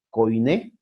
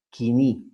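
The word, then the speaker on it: κοινή: Este es el griego bíblico llamado el koiné o pronunciado kini, ¿no? Que es la pronunciación moderna que nosotros usamos.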